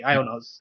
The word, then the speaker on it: IONOS: ionos or how do you read that or pronounce that is it iOS ionos okay ionos so okay so ionos uh but you don't